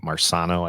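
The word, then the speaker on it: Marcano: I can't pronoun uh it's like marsano I think is how you say his last name um he got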